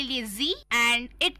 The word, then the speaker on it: Sie: और third person plural, उस case में सी, जी, जी, इट्स नॉट सी, या जी। हाँ, और दोस्तों उसको हम लिखते हैं SIE, तो वी डू not pronounce it एज साई, बट वो सी है, जी है, जी है, जी सिनेमा वाला जी है।